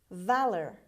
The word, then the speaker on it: valor: jazz word number eight valor valor valor the stress is at the beginning means bravery or courage